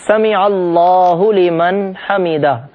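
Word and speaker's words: سمع اللہ لمن حمدہ: غلط سلط طریقے سے ادا کرتے ہیں۔ صحیح تلفظ ہے سمیع اللہ لمن حمیدہ۔ ہم یہ جملہ صحیح طریقے سے ادا کرتے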